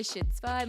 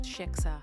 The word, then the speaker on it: shiksa: I like called Jeremy's grandma and I'm like, so would you consider me a shitsva? You guys, a shitsva. How do you say it? Shiksa.